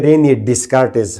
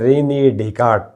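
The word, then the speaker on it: René Descartes: ये जी डेट of birth 21 March 1596 एंड डेट of death हम बोलते हैं रेने डिस्कार्टिस। खैर पाकिस्तानी इंडियन सब, मगर ये एक्चुअली है रेने डेकार्ट।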